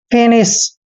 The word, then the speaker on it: finish: एफ का उच्चारण फै करते हैं, आई को छोटी की मात्रा पढ़ते हैं और एन का उच्चारण न करते हैं, आई को छोटी की मात्रा पढ़ते हैं। SH का उच्चारण हमेशा श करते हैं। फिनिश।